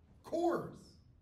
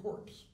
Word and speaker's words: Corps: that it's spelled differently courses how do you pronounce that nope that's that cores the Marine Core Obama famously ref referred to the Marine Corps as the Marine corpse which you know a lot of Marines like